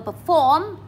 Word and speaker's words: perform: Perform, trọng âm số 2.